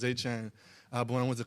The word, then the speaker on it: Etienne: So growing up, it's Travis Etienne. So it'd be like Achane. And that's how you always said Travis Etienne.